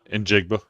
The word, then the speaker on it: Njigba: I can't I've never been able to pronounce that. Injigba.